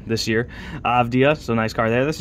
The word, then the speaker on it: Avdija: I just learned how to pronounce his name this year. Avdija.